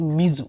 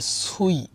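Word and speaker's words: 水: তো এই কাঞ্জিটার ক্ষেত্রে যদি আমরা জানি, যেমন এই পার্টটা হচ্ছে বেসিক্যালি মিজু মানে পানির মানে কাঞ্জি পানি। তো এটার একটা উচ্চারণ হচ্ছে মিজু সরাসরি, যার অর্থ হচ্ছে পানি। আর আরেকটা উচ্চারণ আছে সুই, যার অর্থ হচ্ছে সুই ইও বি, অর্থাৎ বুধবারের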